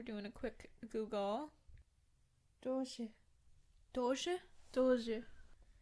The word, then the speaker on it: Doge: Doge? Doge. Doe as in doe, a female deer.